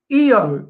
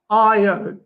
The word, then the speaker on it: Io: sound it is a short uh e sound so it is EO not IO so all of these